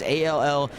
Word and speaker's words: Allgaier: I always tell people it's Allguyer, and then they go, okay, that's how you say it, but then I have to spell it, and they're like, yeah, that doesn't add up.